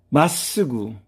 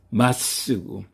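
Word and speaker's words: まっすぐ: 자, 다음은 마스구 마스구입니다. 똑바로라는 의미입니다. 여기에서도 초금의 다음에 스라고 발음되는 글자가 오지 않습니까? 거기에 동화되어서 이때 처금 스로 발음이 되고 있습니다. 그래서 s가 두 개 나란이 붙어 있게 되었지요. 마스구 마스구 똑바로라는 뜻입니다.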